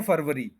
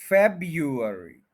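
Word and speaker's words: February: January, January, January, उसके बाद next हम कहते हैं फरवरी, फरवरी। स्पेशली जब हम लिखते हैं तो उसमें हम इसी तरह से फरवरी लिख देते हैं और बोलने में भी फरवरी कहते हैं, जबकि इसका प्रोनाउंसिएशन ये बताता है कि ये है फेब, और उसके बाद उसी तरह यू, फिर अर और फिर ई। फेब्युअरी, फेब, यू, अर, ई, फेब्युअरी। 4 syllables हैं, फर्स्ट के ऊपर स्ट्रेस है, फेब्युअरी।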